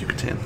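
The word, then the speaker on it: Yucatán: it's totally a say-so Yucatan yeah no it's pronounced Yucatan do you know the spell Peninsula I'm all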